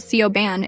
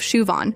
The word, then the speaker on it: Siobhan: There's Siobhan, who gets called Sioban instead of Shuan.